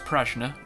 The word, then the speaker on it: Prajna: Now, what I found out was Prajna is pronounced Prajna, but what it means is intelligence.